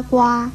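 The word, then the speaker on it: 蜗: 跟蛙字相似的是这个瓜牛的瓜字，瓜字的国语注音是割蛙瓜一声瓜。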